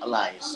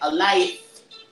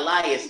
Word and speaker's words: Elias: He always says, like, a life, not Elias, a life.